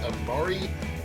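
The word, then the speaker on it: Emari: It's Amari Demarado. That's spelled with an E, by the way.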